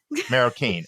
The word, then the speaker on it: Maroquin: dean of admissions Claudia is it maroquin um is that how you pronounce it Julia do you know her is it maroquin Maro Keen okay Claudia Maro Keen thanks for correct if